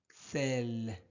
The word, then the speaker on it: sel: Celle sel. Alors E est suivi d'une seule consonne non muette.